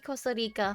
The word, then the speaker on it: Costa Rica: You did tell me Costa Rica, huh? You were making fun of the way I pronounce it. Costa Rica. There. I did the R.